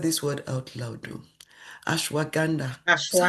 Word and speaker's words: ashwagandha: Ashwagandha. Is that how to say it? Ashwagandha, yeah.